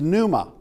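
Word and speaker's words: πνεῦμα: And uh this this actually this one uh is numa uh meaning spirit and the p is silent.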